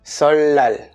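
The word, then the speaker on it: 설날: se prononce comme un humble donc ça se prononce bien solal pour tout ce qui est raide l'exception de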